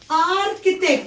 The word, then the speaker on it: architect: architect مهندس معماري. يعني ايه يا اصحابي؟ السي والاتش هنا اتنطقت ك زي سكول.